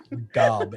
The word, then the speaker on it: Gob: I'm sorry, old Hob. I'm sorry. And gets his name wrong.